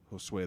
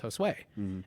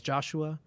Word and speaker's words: Josue: their attendance sheet was josue and no one ever said it right no one ever did it was always joshua was that was joe